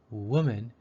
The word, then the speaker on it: woman: non-standard move number five the O in woman sounds like the U in put this symbol is standard